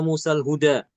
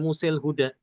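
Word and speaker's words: موسى الهدى: Musal hudal huda misalnya walaq Musal huda. Dia dibacanya Musal huda bukan Musil huda. Kenapa? Karena setelah kata imalah Musa itu ada huruf sukun lam.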